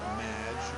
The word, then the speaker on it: Madge: It's Madge, which rhymes with badge.